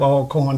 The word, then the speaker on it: Alcorn: a proud graduate of all corn state university and i'm glad you got it pronounced right all corn even though it's got one hell i understand virginians have